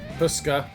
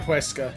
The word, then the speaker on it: Huesca: I can never not pronounce that name anymore. Huska. Dr. Huesca, that's it.